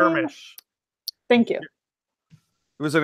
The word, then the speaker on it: Jarmusch: Jarmusch.